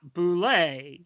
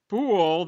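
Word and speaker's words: Boulle: She writes, the pronunciation of boule is not boule. Instead, it's boule that rhymes with pool.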